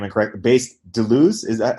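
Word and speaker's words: Deleuze: his name incorrect based Delo is that how do you pronounce his name yeah um yeah that's good enough you would say Delo but yeah it's fine okay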